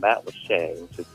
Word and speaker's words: Matlacha: In fact, there's a place by us called Matlacha, which is spelled Matlacha, but it's the way Key West used to be, say, 40 years ago.